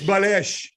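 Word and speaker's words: بلاش: language uh you gotta say balesh yeah it's balesh so so ahmed what's it like to be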